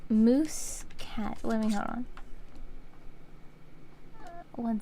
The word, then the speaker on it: Muscat: I find it yeah it's moose cat hold on m u s c a t yeah this is spell it's spelled a little differently oops there we go